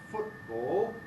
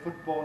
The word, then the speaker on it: football: african or fricative so in words like football very wide spread now to pronounce it with a glottal stop at the end of the first although you can say football alveolar and you can even say football very very careful very slow normally football football it's